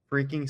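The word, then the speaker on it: phreaking: So, the idea of phone hacking, often referred to as phone freaking spelled with a PH.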